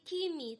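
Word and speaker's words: chyme: sudah kita sebut sebagai Kimi tulisannya cemi Oke kalau saya bacanya Kimi jadi ketika misalnya E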